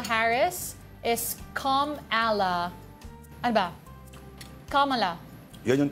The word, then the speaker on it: Kamala: language learning platform babble mm us Vice President Camela Harris is kamala Ano ba kamala yun yung tama Oo Camela